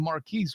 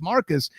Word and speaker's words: Marques: Like, and a little behind the curtain, I was actually calling him Marquise, which was not accurate. It's Marcus.